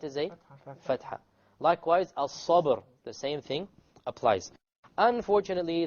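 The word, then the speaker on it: الصبر: Before it is silent. But before the silent is a fatha. Likewise, al-sabr.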